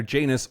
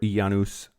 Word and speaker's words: Janus: faces literally two faces it's either Janus or yanus depending on who you asked the Greeks or the Romans or not sorry the Latin Latin pronunciation anyway had two faces